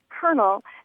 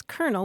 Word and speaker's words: colonel: Tain and they asked why we pronounce the word Colonel as if it had an r in it and um calling you